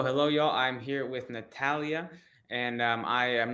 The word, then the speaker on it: Natalia: know you said you when I initially pronounced your name I pronounced it wrong I said Natalie you said no it's Natalia and I heard kind